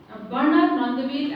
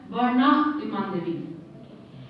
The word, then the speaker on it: Bernard Mandeville: Bernard Mandeville, as this is the American or the English way of pronouncing his name. Otherwise, he would be pronounced as Bernard de Mandeville.